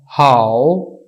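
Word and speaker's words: 好: तो यहाँ पे इसको पढ़ा जाएगा हाउ। इसकी प्रोनाउंसिएशन, इसका साउंड जो होगा वो होगा हाउ।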